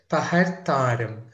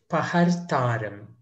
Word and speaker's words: పహర్తారం: Paharthaaram. So there's a RTH sound that needs to be pronounced a bit. So you'll say Paharthaaram. Paharthaaram.